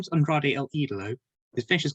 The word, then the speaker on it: Andrade: i think all three of them can't really pronounce spanish words correctly so give them they keep calling him andre like andre the giant like andrade so yeah